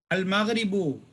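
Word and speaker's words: المغرب: Al-Maghribu, sunset time. Al-Maghribu. Al-Maghribu. We have to pronounce. Mim is huruf al-Qamariyah.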